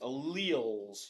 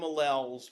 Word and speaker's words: allele: So here it is, alleles. You can call them alleles, but we're going to make fun of you if you say it like that. Alleles in the Punnett Square.